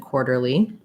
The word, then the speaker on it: quarterly: So the QU sound, those are actually a K and a W sound, qua. And then the AR actually says or in quarter and quarterly. And so again, for my or diphthong, it's not really an O and an or, but a fast combination of moving from the O position to the position, or. So I would build from the or, quar, or, war, quar.